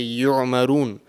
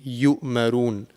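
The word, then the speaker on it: يَأْمُرُونَ: So sometimes what people tend to do is they tend to, mispronounce this, and they will pronounce the letter Ain and they will say yu'marun, which is wrong. It will change the whole meaning of the word. So over here it will be yu'marun.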